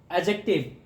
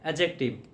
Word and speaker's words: adjective: क्या होता है, एडजेक्टिव, ए और जे के बीच का जो डी साउंड होता है वो साइलेंट होता है, वो क्या होता है? एडजेक्टिव।